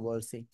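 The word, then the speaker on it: ب: থেকে আপনারা পারেন না দুই ঠোঁটের ভিজা অংশ থেকে বা এক আলিফ টেনে পড়তে হবে ঠিক আছে ভালো করে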